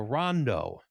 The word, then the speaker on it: rondo: Oatmeal is cooked in a large shallow three foot wide aluminum pan called a rondo. Rhymes with bondo.